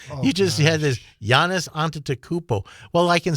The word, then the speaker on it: Antetokounmpo: Well, I had to I had to wait to Antetokounmpo.